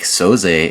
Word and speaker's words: Soze: I think Soze is how he pronounces his last name, S-O-Z-E.